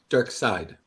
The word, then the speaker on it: Darkseid: Dark Side. Yeah, side.